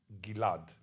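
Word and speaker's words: Ghil'ad: My name Gilad was like that pronounced in Hebrew. Nowadays everybody pronounces it Gilad.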